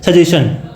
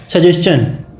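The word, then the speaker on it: suggestion: करते चला आया हूँ, सजेशन। तो इसका बट एक्चुअल प्रोनाउंसिएशन होगा वो यहाँ भी लास्ट में चा आता है, चा हिंदी में अगर बोला जाए तो हिंदी चा साउंड करेगा, सजेशन।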